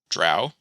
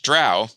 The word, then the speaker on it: Drow: the D&D lexicon, and he said how to pronounce Drow, and it helpfully says, Drow. It lists out the word, and it says Drow.